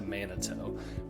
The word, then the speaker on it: Manito: realtor that you want to be close to Manito.